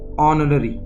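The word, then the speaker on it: honorary: ठीक है, इंग्लिश में ध्यान रखना आपको, जब भी एच के तुरंत बाद ओ आए तो एच साइलेंट हो जाता है। ठीक है, तो इसके आप पढ़ेंगे ऑनररी। ठीक है, ऑनर आपने पढ़ा है, ऑनर HONOR, तो ऑनररी जैसा मैं पढ़ता हूँ वैसे आपको उच्चारण करना है।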